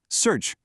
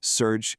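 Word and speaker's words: սուրճ: Pronounced simply surge. See, it's that easy. Just one word, surge, and that perfect cup of coffee is on its way.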